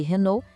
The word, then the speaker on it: Renault: Já para Peugeot e Renault, a regra de ouro é as consoantes, no final são mudas.